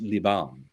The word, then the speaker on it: Liban: but he spelled Lebanon with the French spelling of it, which is, I believe, pronounced Liban, and it's not spelled Lebanon.